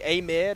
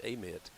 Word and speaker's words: Amite: you're in Mississippi, it's Amite. But if you're in Louisiana, they actually pronounce it Amite.